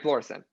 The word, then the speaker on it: Florissant: And I'm gonna hurt everyone in Missouri because I think I might pronounce this place wrong. Is it Florissant? Yeah, Florissant.